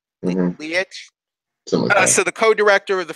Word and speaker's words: Leitch: How's it pronounced? Leitch. Leitch.